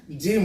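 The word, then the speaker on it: gym: পড়বে ওকে তারপরে জিম জি দেখো জি এর পরে কি আছে ওয়াই আছে তাই না তাহলে জি এর পরে ওয়াই থাকার জন্য এটা জিম হয়ে যাচ্ছে দেখো এখানে গ এর উচ্চারণ আসছে না গিম হচ্ছে না জিম হচ্ছে তাহলে আমরা বন্ধুরা কি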